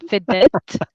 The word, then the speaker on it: vedette: The vedette of, is that how you pronounce it? Vedette?